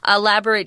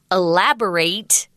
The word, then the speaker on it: elaborate: The verb elaborate, hear that long A, elaborate, adjective elaborate. Right, elaborate, which means lots of details and things like that.